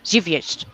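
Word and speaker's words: Żywiec: Well, my bestie calls it Ziggy Wiggy, but I do believe it's pronounced Zivjest.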